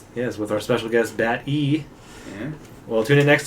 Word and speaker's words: Bat-E: Bat-E. Bat-E. That's how we'll spell it. B-A-T-E. All right. Like Wall-E, Bat-E.